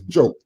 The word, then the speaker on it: Diop: He also often says that you have to pronounce his name correctly. Not Diop, it's Diop.